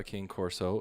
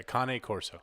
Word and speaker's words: Cane Corso: just going to say because i say king course but you've been saying it kane kane carne asada yeah kane corso no there's no r and there's no r